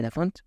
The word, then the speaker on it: Laphond: mis redes como la font pero recuerden la no se pronuncia no se pronuncia muy